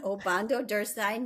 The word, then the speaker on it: Obando-Derstin: 7th district in the House of Representatives, Obando Durstein. would you mind telling us a little bit about yourself? First of all, great job on the pronunciation. Obando Durstein.